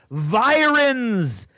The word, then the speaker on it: virens: in the Coast Guard virens as it rhymes with Sirens like the ones going